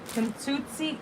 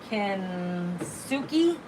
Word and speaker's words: Kintsugi: Kintsutsi Kin Kin tsuki? Kintsuki. That's how you say it.